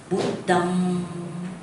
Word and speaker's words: Buddham: So when you recite, you should recite Buddham with the vibration here, okay? We call it nasal sound. Buddham Pujemi. You must put the or sometimes they got sound. As long as you got the vibration, alright?